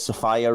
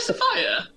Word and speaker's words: Sophia: Yeah, it's pronounced Sophia, by the way. Is it actually Sophia? Yeah. I did not know that. I've always thought it was Sophia. Yeah, I think everyone does. It's spelt that way, but she doesn't pronounce it that way.